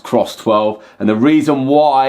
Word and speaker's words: CRSS12: I've been told it's pronounced Cross 12, and the reason why it's cross is because